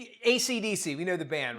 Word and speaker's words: AC/DC: AC/DC is supposed to be pronounced one letter at a time, but reportedly people in Australia kept on calling it Akadaka.